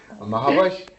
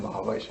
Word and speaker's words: महावश: अच्छा एक बात ये कि मैं हमेशा इनको आदतन महविश कहता था, लेकिन नाज़रीन सही जो प्रोनाउंसिएशन है, तलफ़ुज़ है, वो है महावश। बहुत सुंदर। अच्छा महावश है, जैसे मेरा नाम महावश, वाव पर ज़बर है, ज़ेर नहीं है।